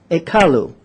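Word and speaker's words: ekallu: Semitic language from the Sumerian language and it's pronounced at column a car Lou you hear the similarity a doll and the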